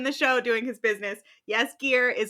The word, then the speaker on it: Jaskier: To forewarn you, we think that that's how you pronounce their names, Geralt and Jaskier, but we very well could be wrong.